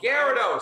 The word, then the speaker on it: Gyarados: Gyarados, say it right.